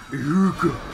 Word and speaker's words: Ehrgeiz: I mean, I just got Ehrgeiz. That's how the announcer pronounces it. He just says Ehrgeiz.